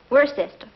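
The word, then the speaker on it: Worcester: freddie calls it something else too doc but it's spelled w-o-i-c-e-s-t-e-r we're sister oh yes i see yes lord wooster this might be fit to be hard time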